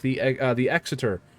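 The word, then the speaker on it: Exeter: Like there's some tier five cruisers that I really enjoy like the uh the exiter. I was going to say exter piss you guys off, but I'll say it properly. The exiter.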